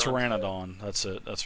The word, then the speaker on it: Pteranodon: But as you guys are coming up to this bridge, these Pteranodons, I think I'm saying that right, Pteranodons, they're a... Pteranodon. Well, the P is silent. Pteranodon, that's it, that's right.